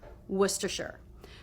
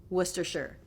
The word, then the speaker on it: Worcestershire: your lips will flare Worcestershire so it's just three syllables da da da Worcestershire don't pronounce that first R and also make sure you put the schwa in the last syllable some people will want